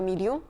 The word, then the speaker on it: million: Et l'exception, c'est quand ILL se prononce il. 1000, tous les nombres qui sont composés de 1000, comme un milliard ou un million.